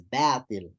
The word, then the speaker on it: باطل: No, it's batil. Okay, Yes, sir. batil. Okay, again, we don't mix up the letters. Just because we have a thaw coming after this alif doesn't affect anything. We still pronounce it bad.